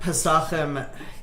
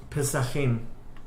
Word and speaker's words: Pesachim: Look at Pesachim, crazy story.